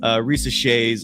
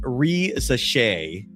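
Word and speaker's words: Risacher: So Joe here is trying to give me a proper pronunciation of Zachary Risosha's last name. It's pronounced Risosha.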